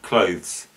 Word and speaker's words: clothes: list is the word clothes with a th this gets pronounced many times without the th in fact clothes but